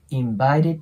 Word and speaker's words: invited: 説明した通り最後の D の音がなくなるので i invited ここで止めるイメージですねでその後に invited 10 people でその